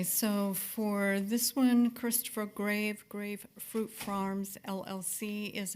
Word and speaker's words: Graeve: 5/24/23, they submitted a permit via Bright Light Homes Marina Grave, and that's spelled Graeve.